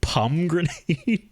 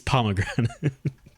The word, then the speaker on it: pomegranate: i tell you who you pronounce it pum grenade no it's it's pomegranate those i still know